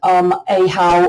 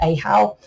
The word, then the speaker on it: Ahau: That's storm, Kawak, what I'm about to do, and light or sunlight, ahau or ahor. Some people pronounce it all differently. I like it ahau.